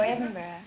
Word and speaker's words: Edinburgh: No, Edinburgh.